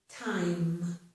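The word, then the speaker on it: thyme: This is the word time. It's a spice. It is pronounced with the t sound.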